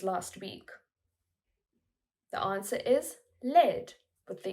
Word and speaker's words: led: The answer is led, with the E sound like red.